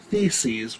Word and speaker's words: theses: That's actually theses, which is plural for thesis, and it rhymes with feces, which is poo, and that's funny.